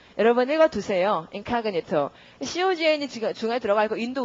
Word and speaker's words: incognito: 이거 나중에 표제어 되고 강세가 O에 있기 때문에 발음이 incognito 이렇게 됩니다. 여러분 읽어두세요. incognito.